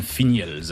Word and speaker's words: Finiels: On dit bien Finiels, hein. On prononce bien le L.